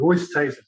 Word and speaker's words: Oosthuizen: Oosthuizen, the young lad who was playing, his dad came up to me and said he wanted me to say it properly, Oosthuizen.